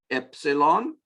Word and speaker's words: epsilon: So again, our 4 new letters are epsilon, which is also a vowel like alpha, and it's usually pronounced e, as in the English short E sound, e, epsilon, zeta, eta is another